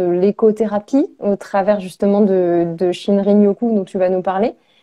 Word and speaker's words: Shinrin-yoku: Et ça va être très intéressant que tu nous en parles de guide de Shinrin-yoku. Est-ce que je le prononce bien?